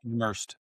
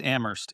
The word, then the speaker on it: Amherst: pronounced Amherst, What Amherst, is by the it?